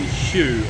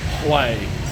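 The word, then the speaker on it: Huế: Hey everyone, so I'm currently in Hue, or Hue as it's supposed to be pronounced, and after about 7 beers deep I realised that I haven't done a video for this town, city.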